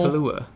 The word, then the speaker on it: Kaluuya: Get Out with Daniel Kaluuya. Like the drink, just not spelled the same.